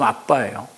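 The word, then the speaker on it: אבא: 아라마 발음 아빠예요.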